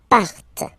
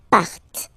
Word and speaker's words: partent: Okay, and the last persons, il, elle, partent. Remember, classic ending, ENT, but then you don't pronounce them, partent.